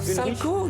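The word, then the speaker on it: Salchow: sal salco salco ou ça s'écrit S a L C H o W du nom de son inventeur salco j'étais persuadé qu'on faait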